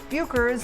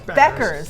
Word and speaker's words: Bueckers: Paige Bueckers of the Dallas Wings. Bueckers. What? Oh, Bueckers. No, it's Beckers. Yeah, it's spelled Bueckers. It's Beckers.